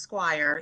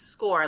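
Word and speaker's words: Scoir: mentioned the website score it's not pronounced Squire even though I love when they say it like that yeah they say Squire it's hilarious but it's score like SC o r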